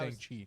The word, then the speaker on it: Shang-Chi: It's not how Shang-Chi. It's Shang-Chi, Bowen. Did you not pay attention to the entire movie on how they pronounce this dude's name? Shang-Chi. I know he's not being serious. Kai.